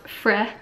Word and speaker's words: Frey: It's pronounced Frey.